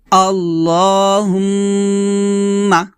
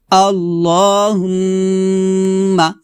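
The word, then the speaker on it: اللهم: সাথে পড়েন এখানে দেখুন আল্লাহ বলবেন না বলবেন ল লফজ লা মোটা করবেন আল্লাহুম্মা আবার বলেন আল্লাহুম্মা এখানে অবশ্যই গুণা করবেন আল্লাহুম্মা এভাবে তারপর সাল্লি আলা সাল্লি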